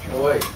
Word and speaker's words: Oi: Oi. What is it? Oi. Oi? How do you spell that? Oi. Oh, I. Love it. Oh, I. Like oi vey.